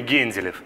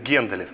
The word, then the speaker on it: Генделев: Мы в семье говорим Генделев. Зная, в общем, русский язык, мне кажется, что, наверное, правильнее говорить Генделев. Поэтому я не поправляю, сам себя называю Генделев.